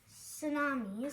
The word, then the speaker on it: tsunamis: you a clue there the t is silent in this kind of a word tsunamis mhm and fire people